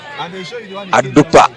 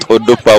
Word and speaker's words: Adupa: Faith saying it's called Ronald Adupa, not Odupa.